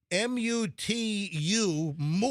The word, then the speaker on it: Mutu: Marius Mutu, M-U-T-U. I mean, how else would you pronounce it? Mutu.